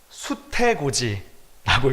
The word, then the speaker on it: 수태고지: 이것은 수태고지라고 읽습니다.